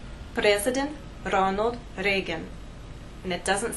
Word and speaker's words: Ronald Reagan: The correct pronunciation is President Ronald Reagan. We have R's here and here.